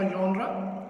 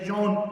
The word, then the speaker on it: genre: इसकी डेफिनेशन कुछ यूँ है कि सेटायर इज़ अ जॉनरा या यॉन GENRE। जॉनरा मैं इसलिए बोलता हूँ कि इसको हम ज़्यादातर पढ़ते हैं, लेकिन यॉन इसका सही प्रोनाउंसिएशन है।